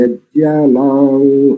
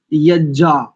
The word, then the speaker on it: यज्ञ: उच्चारण कर रहे हैं, अन्यथा अधिकांश आर्य समाजियों का उच्चारण यज्जा, 2 जकार का उच्चारण करते हैं, जबकि इसमें ये सानुनासिक वर्ण है, यज्ञा, ऐसा।